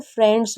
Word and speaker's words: friends: फ्रेंड्स हो गया, क्योंकि आई ई को हमेशा ए पढ़ते हैं तो फ्रेंड्स होगा। फ्री, वैसे आई ई को ई भी पढ़ते हैं, लेकिन फ्रेंड्स में हमेशा ए पढ़ेंगे, तो आपको इसको याद रखना है, लिख लीजिए।